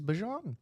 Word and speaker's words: Bijan: as saying the correct pronunciation is Bijan. Oh. Yeah. Yeah, Bijan Robinson.